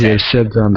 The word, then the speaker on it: said: is your say s your said is said yes Samir short e is just s so this is like a short I know it's AI but it's a short e sound easier said than done